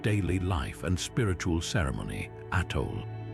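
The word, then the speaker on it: atole: Atal pronounced artoé, this ancient beverage was far more than just a comforting drink.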